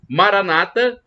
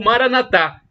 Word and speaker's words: Maranata: pelo Apóstolo São Paulo Maranata com a tônica na penúltima sílaba como falam os protestantes ou mora na tá com a tônica na última sílaba como dizem os católicos significado ao mesmo vinde